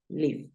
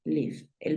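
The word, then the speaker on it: live: vivir en este caso no lo vas a pronunciar Life si nosotros miramos sería una regla que se aplicara terminan e una consonante la i podría sonar i pero en este caso no sucede así entonces qué pasa tú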